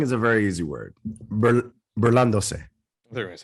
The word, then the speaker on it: burlándose: Burlándose. Burlándose? Not burlándose. Burlándose. Burlándose. I just did a deeper voice there, but the same thing. No, se. S-E is se. Like Burlándose.